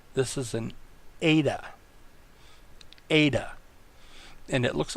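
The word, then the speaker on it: ἦτα: not this is an ADA ADA and it looks like an end but the front toe goes below the line and it has an a sound as in next letter is theta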